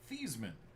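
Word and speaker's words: Joe Thuney: Joe thyman fun fact his last name's actually pronounced thean but they changed it for the trophy Noah Fant Darius Slayton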